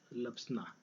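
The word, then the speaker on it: LBSNAA: ठीक है, जिसे हम शॉर्ट में कहते हैं LBS लप्सना। ठीक है, मैं इसको शॉर्ट में प्रोनाउंस करता हूँ लप्सना।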